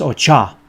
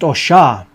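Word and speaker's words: oshá: So I know that I call this Ocha, and I know that some of you out there are going to say it's pronounced Osha, but I can assure you that in Coyote, New Mexico, where my people come from, it's Ocha, along with the fact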